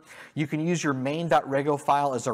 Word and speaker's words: Rego: to validate policy's code uh Opa uses Rego pronounced Rego uh as a policy language and it decouples